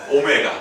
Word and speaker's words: 오메가: 한 허근을 뭐라고 하자 W 아니고 오메가 그렇죠 오메가 절대로더라고 읽으시면 큰일 나옵니다 오메가라고 읽어 주셔야 돼요 그럼 자 이거